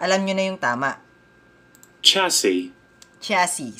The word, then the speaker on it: chassis: If you can see, C-H-A-S-S-I-S. Kung babasahin mo siya, specifically yung word na yan, chassis, kasi may S sa huli. But let's try to listen how it is being pronounced. Alright? So, let's see. Chassis.